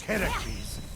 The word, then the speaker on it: Heracles: So, Phoenix, after boldly besting the Gorgon that ambushed Heracles...